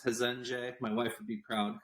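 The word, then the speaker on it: Resende: four hundred thousand people it's called regende brazil or pronounce hezenje my wife would be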